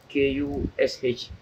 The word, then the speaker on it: Kush: Kush K-U-S-H. Bush B-U-S-H. Though like rhyme soul. La rhyme soul. So you take a bush lema, you take a kush ma. No. Kush. Ojubilam na kush.